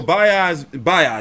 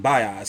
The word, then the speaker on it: Baez: Yeah, so Baez is how you say his name, Baez.